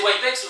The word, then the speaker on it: WYPCS: Donc Le- prononcer Wipex, oui, on sait qu'il n'y a pas de E dans le mot, mais bon, fallait bien Il est fantôme. trouver un moyen de le prononcer correctement.